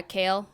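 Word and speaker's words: Kailyn: Uh Kalin. Yeah, Kale.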